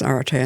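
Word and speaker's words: ἀρετή: was at school, so I might mess the pronunciation up, but is Aretē, is it excellence? Aretē, yeah.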